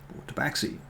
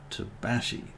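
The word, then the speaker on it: tabaxi: of my campaigns um whereas some people like to say a to Backside autopaxi but um it is in fact a South American word and is apparently correctly pronounced to Bashi so lastly that's what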